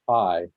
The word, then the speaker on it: HAI: know, Human Awareness Institute, HAI, is pronounced high.